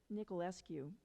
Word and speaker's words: Niculescu: So I wanted to introduce Tatiana Niculescu. Yes? Niculescu. I have practiced in. No, it's not too many syllables, though.